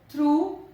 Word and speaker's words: through: Through. G is silent.